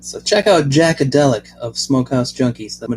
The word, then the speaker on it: Jaqadeliq: You might want to check out my cousin Jackadelic. That's spelled Jaqadeliq.